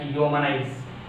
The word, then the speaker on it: humanize: A word ends with IZE takes stress on a first syllable, third syllable from the end, like humanize.